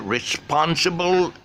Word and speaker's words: responsible: Okay, let's go with another word, responsible. Responsible. That stress syllable is on response.